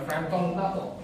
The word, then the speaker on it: Frampton Nuttall: Nah, bayangin saja saya menulis namanya Frampton Nuttall. Gimana sebutannya? Kalian tahu gimana cara penyebutannya? FRAMPTONNTTEL ya, Frampton Nuttall.